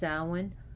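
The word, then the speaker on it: Samhain: the site in Ireland where it said that sowin the festival originated from at this cave and at that place which is spelled Sam Hayne but pronounced salwan you know Halloween Hallows Eve so here we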